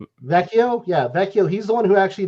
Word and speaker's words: Vecchio: Luciano Vecchio. Vecchio? Yeah, Vecchio.